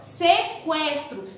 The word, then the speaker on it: sequestro: Sequestro. Sequestro. Eu pronunciei o som do U.